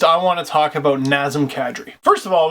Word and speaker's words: Nazem: it's a goof on someone mispronouncing nazm as nazim I always thought it